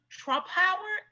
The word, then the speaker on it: Trumpauer: And his mom, what tops everything off is that his mother he's also the son of the infamous Joan Trumpauer.